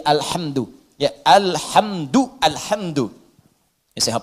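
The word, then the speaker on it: الحمد: Bacaan di qira'ah sab'ah semua para pembacanya itu mendhammahkan huruf dal di alhamdu.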